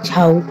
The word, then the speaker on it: ছৌ: অঞ্চল ভেদে বা আঞ্চলিক উচ্চারণ মতে ছৌ নাচের অনেক নাম দেখা যায়, যেমন ছৌ, ছ, ছৌ, ছাউ ইত্যাদি, কিন্তু সবচেয়ে জনপ্রিয় ছৌ মানে সং বা ছায়া।